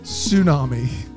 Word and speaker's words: Tsunami: Tsunami. The T is silent.